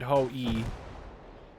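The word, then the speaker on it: Ho-I: new ho e or hoi again I think somebody told me to pronounce it as in ho you pronounce it ho e see if we can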